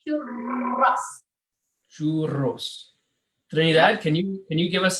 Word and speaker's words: churros: side by side, it's you have to roll the R's. Yeah. So that is a challenge for everyone. Yeah. Say churros. Churros.